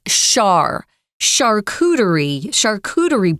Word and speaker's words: charcuterie: So it's pronounced, guys, in a weird way. It's charcuterie boards.